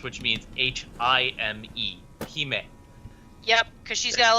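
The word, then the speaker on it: hime: those in the chat it's pronounced he may but it's it's a japanese word for princess which means h-i-m-e he may yep because she's got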